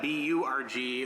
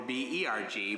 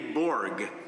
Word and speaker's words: Burg: The family name Burg is pronounced the same in English, whether you spell it B-U-R-G or B-E-R-G, but in Hebrew, I have to be more specific. Korim li Burg, lo Berg. My name is Burg, B-U-R-G, not Burg, B-E-R-G.